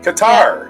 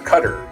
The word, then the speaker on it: Qatar: Qatar, or Qatar, as some people call it. Qatar is how they say it.